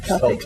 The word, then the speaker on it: Celtic: Yes, Celtic, yes. Is a basketball Yes. a little bit. That's how most people pronounce it, yes.